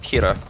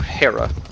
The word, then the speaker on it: Hera: but dedicated to the goddess kira or hera as she's sometimes pronounced but there winds up being